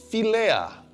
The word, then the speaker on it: philia: Tapi kasih filea. Bacanya filea tapi ejaannya phi i l i a.